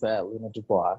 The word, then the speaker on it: Luna Dubois: This is Luna Dubois. Did I pronounce it right? Yes, that was Luna Dubois.